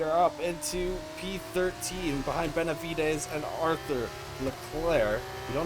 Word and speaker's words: Benavides: Benavides, that's how you say it.